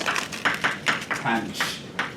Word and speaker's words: tanh: And so that's pronounced tanh.